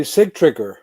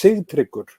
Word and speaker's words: Sigtryggur: In Iceland, well, my American friends used to call me Sigtryggur. Sigtryggur, okay. Sigtryggur, yeah. But actually, the pronunciation in Icelandic is a little bit different. It's Sigtryggur.